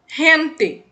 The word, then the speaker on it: gente: dois erres certo como essa palavrinha aqui ó hente significa gente em português e aqui gee